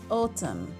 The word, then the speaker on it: autumn: لو لاحظنا في الكلمة دي هنلاقي ال N silent عشان جت قبليها letter M. autumn.